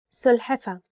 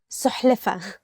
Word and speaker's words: سلحفة: سلحفة, turtle. سلحفة, turtle. And sometimes people mix it with سحلفة.